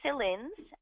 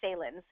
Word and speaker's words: Saelens: is my pleasure to introduce our host sillens and I'm not saying that correctly again it's